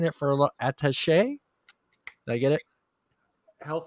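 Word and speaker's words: attaché: this word and i've been saying it for attache i get it health attache yeah us embassy a senior advisor to the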